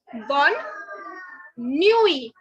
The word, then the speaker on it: bonne nuit: good night, but say bonne nuit. Bonne nuit. Basically, the last T is not to be pronounced, and this E also is not to be pronounced.